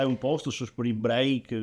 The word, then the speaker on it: break: Break, attenzione qua, l'inglese Attenzione, qua. ragazzi, Perché poi abbiamo- se perché voi mi volete fai facendo. pronunciarlo come cazzo vi pare, fate quello che vi pare, però sarebbe break.